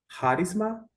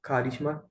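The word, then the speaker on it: χάρισμα: é dom no singular, charisma ou carisma, conforme a pronúncia.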